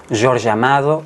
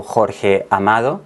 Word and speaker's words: Jorge Amado: canela del escritor brasileño George amado o Jorge amado Si queremos pronunciar su nombre a nuestra manera es una novela que